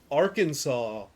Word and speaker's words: Arkansas: Arkansas very specifically being a French mispronunciation of, I think, a tribe name. And the reason it's pronounced Arkansas is the same reason that the one mountain range is the Ouachita.